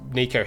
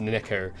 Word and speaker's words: Neko: print with the it's those Nico headphones I made or Neko headphones sorry I keep mispronouncing it because apparently it's pronounced Neko and I'm not Japanese I